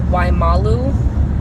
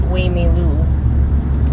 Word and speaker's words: Waimalu: The GPS, the name of the place we're going is Waimalu, and the GPS pronounced it Waimilu.